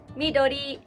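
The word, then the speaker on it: 緑: Midori, midori.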